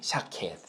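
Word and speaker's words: שָׁקֵד: 아몬드 나무는 원어로 샤케드래요. 발음이 샤케드.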